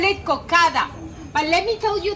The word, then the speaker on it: cocada: We call it cocada. But let me tell you this. In Cartagena, we don't pronounce some letters and some words. Instead of saying cocada, we say coca. A stress at the end.